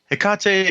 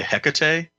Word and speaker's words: Hecate: it although you know when i was a kid still in west virginia it was hecka tie sure that's just awesome